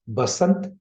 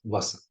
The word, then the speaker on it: Basant Panchami: Some people pronounce it as Basant and some pronounce it as Vasant. The pronunciation doesn't matter here.